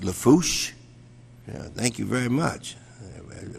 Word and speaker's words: Lafourche: parish president and of course uh for uh pronounced Lafourche thank you very much I worked on that